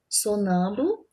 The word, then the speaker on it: sonâmbulo: Sonâmbulo, o nã é a sílaba tônica, ok?